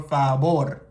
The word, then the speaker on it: favor: this V but actually in Spanish it has a b pronunciation as you would hear it in English so instead of saying por favor you would say poor fabor de nada de nada